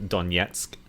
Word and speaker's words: Donetsk: for some reason um in russian versus english we'll emphasize an h sound in our words when russians will emphasize a g so the russian pronunciation of yeah we have the donetsk uh people's republic and